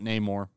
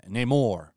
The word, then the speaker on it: Namor: This guy is not Namor. He's Namor. They're literally giving him Latin pronunciation.